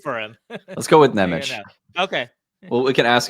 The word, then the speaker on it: Nemec: Let's go with Nemec. Okay. Well, we can ask him when he gets traded here. How about that? Yeah, exactly. But Nemec, I think, is the correct way to say his last name, at least.